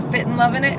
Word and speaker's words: Fitnlovinit: My name is Fitnlovinit, or Fitnlovinit is how you say it. There's no, it's not and, it's in.